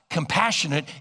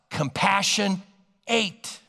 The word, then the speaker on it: compassionate: action word in fact it wasn't pronounced compassionate it was pronounced compassion 8 so I want you